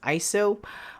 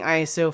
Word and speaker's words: ISO: iso and technically speaking the correct way to pronounce iso is iso but i've been saying iso for at least 10 years now and it's a little